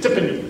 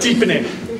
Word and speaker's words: Tipene: those days just said tipy the tipy kids instead of deep in in I didn't even know it was supposed to be pronounced deep in in a lady from Telecom